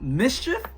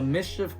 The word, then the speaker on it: MSCHF: you can see so I think this is pronounced Mischief yeah Mission if I'm